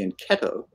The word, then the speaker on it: fianchetto: so it's uh it's what we call a fianchetto the italian pronunciation is the enchetto it's a wing position